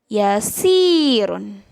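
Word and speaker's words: يسير: Selanjutnya ada sin berharokat kasroh bertemu dengan huruf ya, dibacanya si. Contoh kata-katanya, yasirun. Yasirun. Ingat, kalau dibaca panjang tapi berharokat kasroh, tandanya ditambahin huruf ya.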